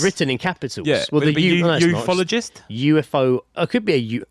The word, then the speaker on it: ufologist: No, UFOologist. It just doesn't sound right when you say it like that. Ufologist. Because it's like UFOologist. Ufologist. It's two O's, so then it'd be ufologist.